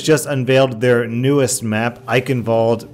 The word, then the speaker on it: Eichenwalde: unveiled their newest map I involed pronounced with a V and I have to